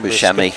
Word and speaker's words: Buscemi: But, yeah, they brought him in here on the Burkes did, and the Weaver and I can't pronounce that one. Buscemi.